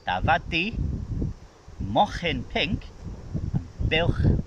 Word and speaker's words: buwch: It's buwch.